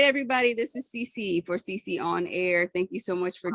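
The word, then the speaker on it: sisionair: youtube channel which is cc on air which is spelled s-i-s-i-o-n-a-i-r or my other channel cc pruitt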